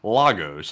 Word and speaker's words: Lagos: I was going to say Lagos just to be funny, but actually, for once, I'm right on the pronunciation. It's Lagos on this one.